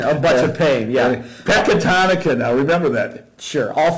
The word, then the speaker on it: Pecatonica: You're talking about the guy at Pectonacia Argyle? Pectonacia. Is that how you say it? Pecatonica. Jeez. Ow! No, Pecatonica. Get out of here.